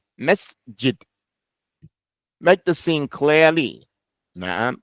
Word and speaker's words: مسجد: So finish the sin before you start the jim. Don't say masjid or the masjid, the masjid. Nah, masjid.